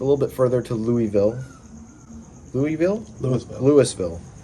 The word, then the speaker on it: Louisville: Louisville? Louisville. But it's spelled like Louisville.